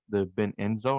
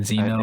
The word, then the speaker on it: Benzino: because I was literally listening to like the Ben Enzo, I think that's how you say his name, Benzino.